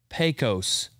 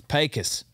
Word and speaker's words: Pecos: Pete carbol and he's at Pecos not pronounced Pecos Cole Snyder and everyone else that visits this state it's Pecos all right we're at